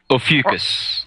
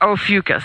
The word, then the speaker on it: Ophiuchus: I can't pronounce it. Ophiuchus. Ophiuchus, thank you.